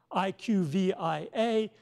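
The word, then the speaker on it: IQVIA: on the slide but IQ VI a which looks like a CLIA but they want you to pronounce it IQ via so they have rebranded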